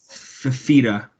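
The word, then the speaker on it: Fifita: No, it's like Fafita.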